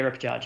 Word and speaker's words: repechage: could have maybe avoided her going to the repechage. Is that how you say it? Yeah, repechage, yeah.